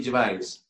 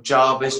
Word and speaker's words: Gervais: of like that phonetically, it'd be like J. It'd be a J apostrophe V A Z E. Gervais. I don't know if that's the correct pronunciation. It's French, obviously. Gervais. Don't know. Oh, well, I've heard everything from Jarvis, Jervis, Gervis. The most common one is they make the S sound instead of the Z sound.